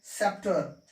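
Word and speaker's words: sceptre: तो यहां पर हमें किसका उच्चारण नहीं करना है, सी का उच्चारण नहीं करना है। ठीक है, सी का उच्चारण हमें नहीं करना है, सी साइलेंट है। इसको पढ़ेंगे सेप्टर, इसको क्या पढ़ेंगे, सेप्टर। क्लियर है ना, क्योंकि ई यहां पर ये भी उच्चारित नहीं हो रहा है, तो ये हो गया सेप्टर।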